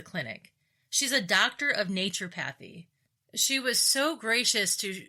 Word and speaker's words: naturopathy: She's a doctor of naturopathy. Did I pronounce that right?